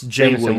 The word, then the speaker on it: Jameson: Is it James? It's Jameson Williams.